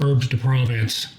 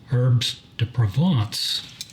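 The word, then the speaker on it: herbes de Provence: of herbs to provant that's the Hy toyy way of saying herbs to Province but uh it's actually pronounced herb to provant and let's give that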